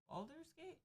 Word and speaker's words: Baldur's Gate: Because it's spelled weird. Baldur's Gate?